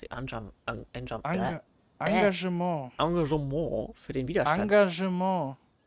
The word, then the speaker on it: Engagement: Engagement. Das E wird wie ein A ausgesprochen.